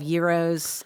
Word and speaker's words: gyros: You're going to have gyros, and am I saying it correctly?